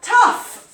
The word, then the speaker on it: tough: We then have tough, which again, the spelling is crazy. Tough.